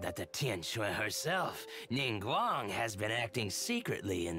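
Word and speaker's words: Ningguang: the Tien shui herself ning Guang has been acting secretly in the shadows that's how you pronounce her name ninguan she wants the rocks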